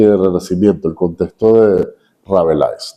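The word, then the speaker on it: Rabelais: Renacimiento, el contexto de Rabelis, ¿no? Así se, así se pronuncia Michel. Francois Ravelis. Rabelé. François Rabelé.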